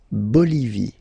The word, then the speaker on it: Bolivie: Okay, final E not pronounced. La Bolivie.